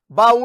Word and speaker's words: baú: Mas quanto à sílaba tônica, baú é o quê? É uma oxítona terminada em U.